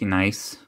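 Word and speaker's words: gneiss: think they pronounce it nice organizing or something like that if i remember correctly but in english we just say nice the g is silent oh awesome this i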